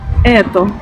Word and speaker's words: Это: Donc pour la quatrième voyelle, il s'agit du E, ou comme le dirait une native, comme par exemple dans le mot eto, ou comme le dirait une native, Это.